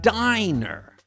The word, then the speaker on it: diner: With only one N, the I makes a long I sound. So this word is diner.